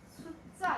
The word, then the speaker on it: 숫자: 자, 얘 어떻게 발음한다? 숫자 이렇게 발음을 해. 자, 앞에 뭐로 끝났어? 울림소리. 네. 뒤에가 안 울림 예사소리. 얘가 뭐로 교체가 됐다? 된소리로 교체가 됐어.